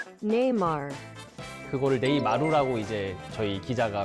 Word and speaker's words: Neymar: 네이마르가 사실 한국에서 네이마루라고 불리면서 어떻게 보면 브라질 사람들도 지금 네이마루라고 부르고 있더라고요. 그러니까 약간 재밌었나 봐요. 그러니까 원래 브라질식 발음으로 하면 Neymar.